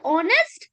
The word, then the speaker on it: honest: Yes, as I have already discussed with you that honest though the beginning sound is h but it doesn't sound like a it sounds like o honest.